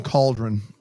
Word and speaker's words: cauldron: Not a sad You do not utilize the letter A in cauldron at all.